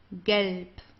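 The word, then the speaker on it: Gelb: Galp. Okay. Galp. So here the B at the end, it's pronounced more like a P.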